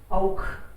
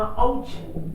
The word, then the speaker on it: auch: औख है पढ़ना पड़ेगा मुझे। Auch. मुझे सुना औच, औच मत Ist बोलना। auch. औख बोलना ख।